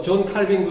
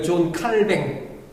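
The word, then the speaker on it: Calvin: 거부합니다 그전에는 신학교 다니면서 존 칼빈 그러면 어떠 사람들은 존 칼빈 안 그래 존 칼뱅 이것이 이제 그 원어에 가까운 발음이 칼뱅 그럽니다 칼이든 칼빈이 거부합니다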